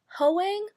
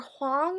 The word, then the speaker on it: Hoang: kiss quotient by Helen Hoang or Hong I was watching one video where this book was mentioned and the person pronounced her last name is Wong I think so I think it's Helen Wong I'm not sure I